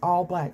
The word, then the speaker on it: ALLBLK: But it's All Black, spelled like ALLBLK.